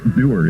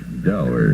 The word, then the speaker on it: dour: Doer is the correct pronunciation. I always thought it was dour. Most people do think it's dour, but doer is correct.